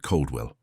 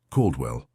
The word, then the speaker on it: Caldwell: "Agent Caldwell," someone said, mispronouncing it Caldwell. She corrected him gently. "Coldwell."